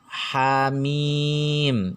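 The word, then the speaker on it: Ha Mim: hak dan mim nah ini dibacanya Hamin jadi hamzahnya ini dihilangkan dan adanya adalah honey Bukan hakmin tapi honey seperti itu Nah kecuali jika huruf-huruf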